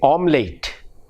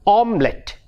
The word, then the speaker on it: omelette: it is very common among malayalis we say omlate omlate now it's a good word but actually the pronunciation we mispronounce the word the word should be omelette omelet not late om late omelet in the